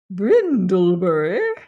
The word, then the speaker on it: Brindlebury: Brindlebury pronounce the old Sussex name with which mammo have no doubt you is a student of history.